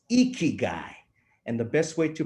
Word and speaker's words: ikigai: we also know we're all about but it's icky guy and the best way to pronounce it is to make your puffy cheeks your chiefs cheeks puffy with a big big smile and shout out icky guy so i'd like everyone out there to uh